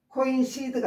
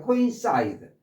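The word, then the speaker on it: coincide: 코인시드가 아니라 사이드라고 발음하세요. 뒤에이가 붙어 있으니까 아 2로 발음해야 되죠.이가 이가 아니라 코인사이드 코인사이드 코인사이드 코인사이드 함께 떨어지다 또는 일치하다 함께 툭 얘하고 얘하고 같이 툭 떨어져요.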